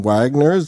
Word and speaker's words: Waggoner: and i believe it's none other than Wagner's that the correct pronunciation of the last name that is how